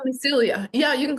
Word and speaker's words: Celia: You can call me Celia. Yeah, you can call me Silia if you want.